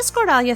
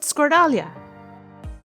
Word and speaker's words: Skordalia: To make the Skordalia smooth and fine, it's worth the step to strain the potatoes.